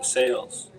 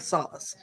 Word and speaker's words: Sales: for us please sure it's sales sales okay see I was going someplace else I was thinking like salace so I'm glad glad